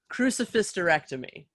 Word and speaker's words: Crucifysterectomy: say it it's crucifectomy crucifysterectomy so you take the word a hysterectomy which is removal of